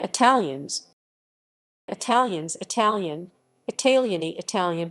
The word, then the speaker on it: italiani: italians italians italian italiany italian pronunciation italjani are a romance ethnic group native to the